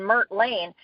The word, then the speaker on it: Mert Lane: So you hear in Mert Lane, you hear the consonants, the M, the R, and the T.